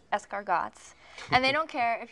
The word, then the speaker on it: escargots: You pronounce it escargots.